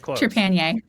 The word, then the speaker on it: Trepanier: HP's series, Titan Mage, Daryl Mayfield, and Trepanier. Did I pronounce it right? Close. Trepanier.